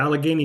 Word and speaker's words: Allegheny: Is it Allegheny? Yeah, Allegheny General in Pittsburgh.